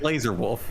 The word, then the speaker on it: Lazar Wolf: is it now Jordan is it maybe Lazar wolf it's it's laser wolf I've seen I've seen